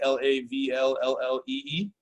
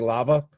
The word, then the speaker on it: Lavalle: Is that Lavalley, Lavlee? Oh, so close. Lava, so lava, hot like lava. Yep. And then LLE.